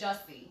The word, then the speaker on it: Jussie: I pronounce it as Jussie.